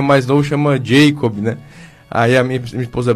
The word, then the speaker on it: Jacob: verdade né então ele ele escreve com b no final e no português correto a pronúncia ele Jacó né como seu está falando e mais acabou que na família se pronunciou Jacob né aí ficou Jacob